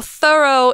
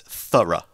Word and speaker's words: thorough: a great word because it looks like through it looks like though and it's not pronounced like either so thorough is an adjective that